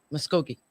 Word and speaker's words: Muskogee: Muskogee. That's what we were trying to figure out earlier. I always mispronounce that when we have Ken on our show.